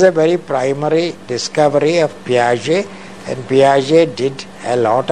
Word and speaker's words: Piaget: P-I-A-G-E-T. Pronounced not Piaget, but Piaget. The Swiss, French-speaking Swiss.